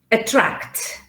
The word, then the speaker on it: attract: table here all right it could be that the stress is in the middle not at the beginning for example if i say attract attract phonetics so attract entrap attract can you see a tract is in trap attract okay it's not at